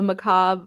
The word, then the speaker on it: macabre: If you want to, my pick is the Macabre Motel #1. Macabre? I don't think that's how Macabre. you pronounce that word.